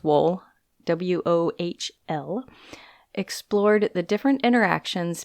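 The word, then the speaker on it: Wohl: 1956 Horton and wool I think it's pronounced wool w-o-h-l explored the different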